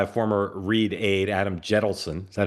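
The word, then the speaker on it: Jentleson: hometown, started by a former Reid aide, Adam Jettleson. Is that how you pronounce his name, Dan? Yep. Jettleson, Yep.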